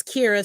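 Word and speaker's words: Qi'ra: um I will say it's Kira spelled with a Q um I appreciate the nod um and I I do accept that Q Qi apostrophe r was notable practitioner of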